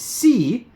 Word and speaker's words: SI: It says SI, pronounced as C, is the first seal pup coin.